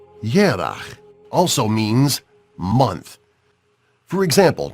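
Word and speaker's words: ירח: But the same Hebrew word, Yereach, moon, has another meaning in Hebrew, though pronounced differently. Yerach also means month.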